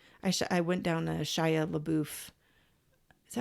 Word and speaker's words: LaBeouf: I went down a Shia LaBeouf. Is that how you say it? Shia LaBeouf? I think so. Oh no, Shia LaBeouf, like in the buff.